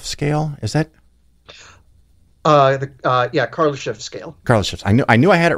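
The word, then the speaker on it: Kardashev: And then I don't know how to pronounce the name, the Kharlamov scale, is that? Kharlamov scale. Kharlamov.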